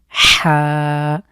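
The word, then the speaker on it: ح: হামজাহা খুব স্বাভাবিক এরপরে হা এই দুটোর উচ্চারণ একটু স্পেশাল আমরা কন্ঠের মাঝখান থেকে চাপ দিয়ে হলকের মাঝখান থেকে উচ্চারিত হবে আইন হা এরপরে দুটো হরফ এগুলো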